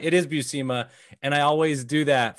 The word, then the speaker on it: Buscema: By the way, he pronounced it Buscema. Yeah, Buscema. And you're right, it is Buscema.